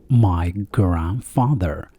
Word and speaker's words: grandfather: انتبه هنا لا ننطق حرف دي. نقول my grandfather.